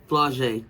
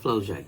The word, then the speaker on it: Flau'jae: And Coach, they told me to let you know that it's Flau'jae, not Flau'jae. It's Flau'jae.